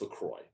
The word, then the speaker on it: LaCroix: sodium zero sweetener zero calories equals innocent pronounced lacroix by americans but if you're french the qua which if you pronounce that in america please stop it's lacroix there you have it so let's break into